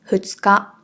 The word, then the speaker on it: 二日: But after two, the reading is the same. So “two days” and “the second date of the month” are both read as ふつか.